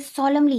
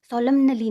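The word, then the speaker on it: solemnly: ये सॉलमली है, सॉलमनली नहीं है ये ठीक है।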